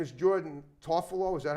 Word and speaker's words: Jordan Tofalo: was part of the crew her name is Jordan toffolo is that how you pronounce it yes like it's spell yeah okay